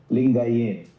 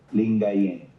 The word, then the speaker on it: Lingayen: Lingayen. Lingayen.